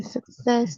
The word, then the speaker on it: success: The success. The Success. Yes, the second syllable, success.